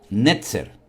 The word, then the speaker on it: Netzer: Ahora, analizando el texto en hebreo, la palabra vástago en hebreo es la palabra netzer. Netzer.